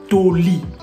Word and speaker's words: Toli: En lingala, on va prononcer Toli.